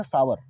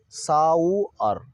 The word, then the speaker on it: sour: टमाटर खट्टा है, तो इसको हम लोग अक्सर पढ़ते हैं सावर, SOUR, सावर। इसका सही उच्चारण होगा साउअर, साउअर, साउअर।